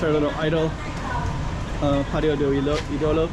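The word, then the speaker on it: Ídolo: The pronunciation is on the I. Idolo. Patio. Idolo. Usually in Portuguese it's like it would be on the second to last syllable, but idolo instead of idolo.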